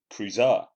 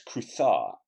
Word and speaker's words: Cruz: me Edwin or Edie he pronounced Cruz are as cruiser and not as croutha as it would have been in Spain a fact which Verity